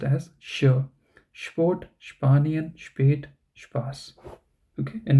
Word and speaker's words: Sport: You should pronounce s as sure and then p. So sport, okay, and not short.